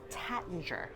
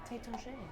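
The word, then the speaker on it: Taittinger: Americans, we tend to say Tattinger. And because most people don't realize the AI is there. Yeah, but French is hard to pronounce. Tétanger.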